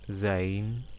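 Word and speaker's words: زاي: or horrors ors and zayn it is like z or z z z orz okay it's complicated now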